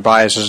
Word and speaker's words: Buis: the only one in the room that can pronounce uh Mr bias's name properly on the first try um Tom